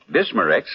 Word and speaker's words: Bismarex: And finally, Bismarex leaves a soothing protective covering on irritated stomach membranes. Well, I'll have to remember that. Bismarex. Is that how you say it? That's right, ma'am. Bisma-REX. Bismarex. Ask for Bismarex at Rexall drugstores everywhere.